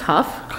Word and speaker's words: Huff: last name is pronounced Huff sorry my apolog I've struggled with my entire life okay but that's fine um it's like tough there we go so